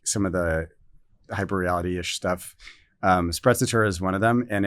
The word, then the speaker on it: sprezzatura: Is it Sprezzatura. Sprezzatura. Is that how you say it? You have to say it like this. So it's Italiano.